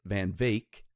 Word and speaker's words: Van Wyck: contacted by this guy Van Van Wyck or is he pronounces it van Vake kind of weird of